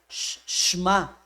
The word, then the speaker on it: Shema: va a aprender más así como si hiciera shma por eso no aparece la letra La e Okay la e en hebreo es muy rapidísima o se es muy chiquitita muchas ocasiones eh los que hablan la lengua hebrea parece como no la pronunciara Okay Por eso allí cuando lo ve escrito allí Ahí dice shma Israel ahora no hay problema